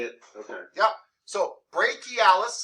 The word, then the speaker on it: brachialis: again okay uh question c-h-i is pronounced basically like k-k-e-y yeah so i can say it okay yep so brachialis say that great key